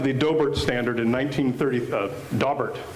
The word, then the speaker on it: Daubert: Daubert standard in 1930 dobbert standard in 1933 often mispronounced dough bear but before 1993 it